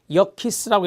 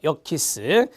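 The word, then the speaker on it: Yerkes: 역키스라고 읽어요. 역키스.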